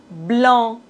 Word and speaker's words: blanc: C comme blanc. Bon. On ne doit pas prononcer C final. Blanc.